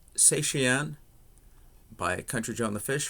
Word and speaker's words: Cetacean: to do the song I believe it's pronounced satyan by country John the